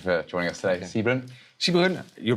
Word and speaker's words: Sijbren: Sibren, you pronounced my name correctly.